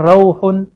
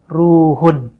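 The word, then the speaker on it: رُوحٌ: Jadi riwayatnya Aisyah dibacanya bukan rauhun, tapi dibacanya ruhun. Bidammir ra wa huwa ar-ruh, ada alif lamnya.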